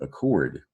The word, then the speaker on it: accord: And this is the German root accord. We use the French root accord, so it's spelled with two C's. It's a hard C sound.